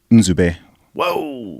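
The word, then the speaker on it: Nzube: yeah my tell your real first name is in whoa which is spelled n z u b e so that's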